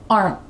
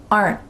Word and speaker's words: aren't: You could say my cats aren't playing with a clear T, but like I said, in fast conversation, you're not going to hear that.